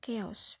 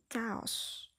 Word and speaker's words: chaos: dari suasana Chaos ingat yaitu bacanya keos bukan kaos kalau Chaos itu yang